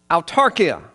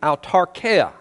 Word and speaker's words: autarkeia: That word contentment comes from the Greek word autarkia. Or actually autarkeia is the proper pronunciation the way I understand it.